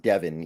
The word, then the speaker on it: Devon: that it is pronounced Devin even though it's clearly not spelled that way yes not even close